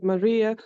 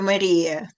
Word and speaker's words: Maria: To Maria. Maria. Sì, Maria Vinnicka. Normal spelling and pronunciation of our name is Maria. Preferisco Maria, come Adige, non Adige.